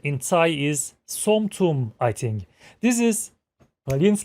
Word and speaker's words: som tum: to make green papaya salad recipe and its pronuncion in Thai is somtum I think this is alin's Kitchen YouTube channel